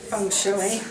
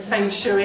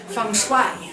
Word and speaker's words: feng shui: A Chinese man told me off for saying feng shui, no feng shui, I had to say feng shui.